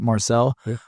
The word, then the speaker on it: Marczell: is really cool at Marcel or YouTube is Marcel okay with a CZ yeah it's spelled marel it's actually a Hungarian spelling the Z is silent in hungar in Hungary